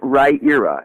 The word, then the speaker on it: Riyria: pronounced ed it's pretty right era as in rye as in the bread ear as in the body part and ah that's how you pronounce right you're up okay Riya and and that was